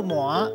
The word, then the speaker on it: 鰻: 看到，这里读作 “ 麻 ”，麻哇麻，第五条。